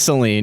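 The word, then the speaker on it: Selene: It is Celine.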